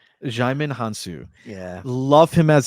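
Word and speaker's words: Djimon: I don't believe the D is pronounced, so I believe it's Jaimin. Jaimin Hansu.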